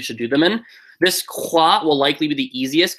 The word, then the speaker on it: croix: The first one you should do is croix. Pronounces like C-R-W-A.